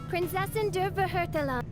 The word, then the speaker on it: Prinzessin der Verurteilung: Fischl's title Prinzessin der Verurteilung. would be pronounced Prinzessin der Verurteilung, Prinzessin which der means Princess Verurteilung.